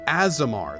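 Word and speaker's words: Aasimar: summer or tiefling yeah a summer azemar Oh azemar that's how you say it as amar okay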